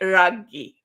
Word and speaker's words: Raghee: I've been called worse, but it's really Raghee. So hey, it doesn't matter as long as you spell it right.